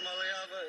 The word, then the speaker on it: Maleava: I'm Maleava, and the correct way to pronounce my last name is Maleava. You said it right.